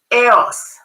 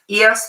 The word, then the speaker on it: Eos: want to pronounce it, because Eos would be the correct Greek pronunciation, but because that word has been used in the English language also, so a lot of people are used to saying Eos, so that's okay, but it's Eos pie.